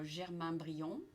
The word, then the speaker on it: Germain Brion: Nous avons aujourd'hui avec nous Germain Brion. C'est bien prononcé?